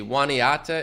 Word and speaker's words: Juniata: Waniata is how you pronounce it. Oh, Juniata. Okay.